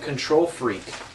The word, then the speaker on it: Kontrol Freek: Uh, it's called Control Freak. That's the name of the website. That's the name of their product. Uh, there's Speed Freak and FPS Freak. Uh, it's spelled K O N T R O L F R E K.